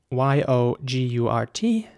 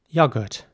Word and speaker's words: yogurt: produce for the restaurant the next word is spelled y-o-g-u-r-t and in British English it would be pronounced yogurt so once again the O is more like an uh sound you're good and in American English it would be more like yogurt so the O is very round once again yogurt